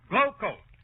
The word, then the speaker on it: Glo-Coat: And GLO-COAT is pronounced Glow Coat.